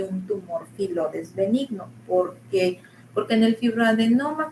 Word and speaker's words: filodes: ¿Filodes o filoides? Filodes. Le puede decir filodes, le puede decir filoides.